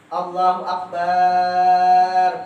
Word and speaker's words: Allahu akbar: Sesudah ba itu alif. Apa bacanya? Nah, sesudah ba Allahu akbar. Alif itu tak? Allahu akbar. Panjang bar. Nah, jangan tidak berpanjang itu tuh.